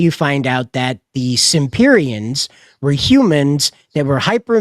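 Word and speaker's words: Semperians: the world of the Simperians, right? Now, it's spelt like Semperfi, S-E-M-P, but the way they pronounce it, it sounds like S-I-M-P, the Simperians, okay? Simperians. And that's how they say it.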